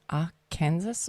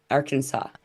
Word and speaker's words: Arkansas: say AR how do you say is it AR Kansas or it's Aransas Arkansas it isans it is Aras or ar Kansas